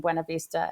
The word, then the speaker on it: Buena Vista: which is, I know I pronounce it as if I speak Spanish. I know people who live there pronounce it differently, but I'm saying Buena Vista, and that's my rant, and I'm sticking to it.